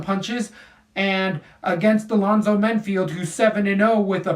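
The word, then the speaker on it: Menifield: Vinicius Alva's yeah first Alonso men field not Mayfield men field names are really getting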